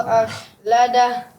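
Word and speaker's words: أَخْلَدَه: Yahsabu anna malahu akhladah. Iya, ini nanti cara baca kha-nya selain juga dijelaskan dan ditebalkan saja. An yahsabu anna malahu akhladah. Ya, selain dijelaskan dan juga ditebalkan lagi.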